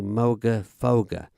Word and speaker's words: Moogerfooger: talk about the Moog Moga foga apps now I believe I'm pronouncing it right because it's not Moog it's Moog so then logically it should be Moga foger if there is anyone